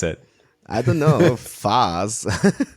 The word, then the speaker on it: FaaS: FAS. Like it's FAS. You know, like the ice cream Häagen-Dazs. It's FAS.